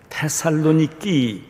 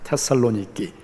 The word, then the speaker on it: 테살로니키: 단지 발음이 조금 틀린데 그리스 사람들은 데살로니가를 뭐라고 하냐면 테살로니키 이렇게 부릅니다. 테살로니키.